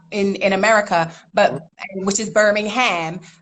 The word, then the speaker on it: Birmingham: Now, there's a Birmingham, obviously, down south in America, but which is Birmingham. But Birmingham, how we pronounce it, but it's spelled the same way, is outside of London.